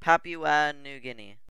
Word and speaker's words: Papua New Guinea: It is pronounced Papua New Guinea.